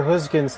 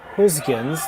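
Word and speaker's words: Gösgens: So, and all the studying of the Dutch language that I did today, the skip's name Gosgens, that first G, attempted to say it like a G sound.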